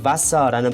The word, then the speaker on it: Wasser: 자 어쨌든 중요한 거는 바사라는 발음이 중요하고요.